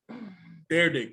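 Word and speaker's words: Dyrdek: i don't think it's rob dardek dere dick that's how you say his name i just know him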